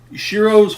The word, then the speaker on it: Shiro: Shiro's whole thing is to become a hero. Right. And... Because it rhymes with his name. Hero Shiro, yeah.